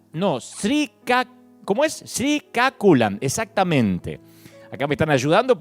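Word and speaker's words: Srikakulam: la India, Odilla en los distritos de Gajapati, Sriaculan, ¿no? Sri, ¿cómo es? Sriaculan. Exactamente. Acá me están ayudando porque es difícil estos pronunciar en el dialecto que están hechas estas ciudades, ¿no? Sriaculan Chinapalia, Loturu Andrapradesh, así se llaman las ciudades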